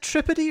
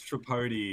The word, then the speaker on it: Tripodi: Uh, is it Trippy or Trapody? Your last name. It's Trapody. Trapody rhymes with Jody.